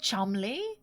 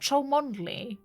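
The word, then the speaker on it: Cholmondeley: Was it Is it just Chumley? Not Chondley.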